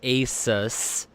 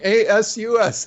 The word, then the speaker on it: Asus: get him to actually pronounce it properly, and it's Asus. Asus. Asus. That's what it says right on the thing. A-S-U-S. Asus. A-S-U-S. Is Asus. Is Asus. No, it's Asus.